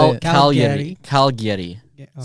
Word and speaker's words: Cagliari: Cagliari. Yeah, okay. So it's like Calgary with a Y in the middle. It's an I, not a Y. But it's Cagliari.